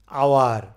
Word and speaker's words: hour: ভাউলের মতো উচ্চারিত হয়, যেমন আমরা বলি যে আওয়ার, দেখেন এখানে কিন্তু এইচের উচ্চারণ, যেমন আমরা যদি বলি হর্স, HORSE, খেয়াল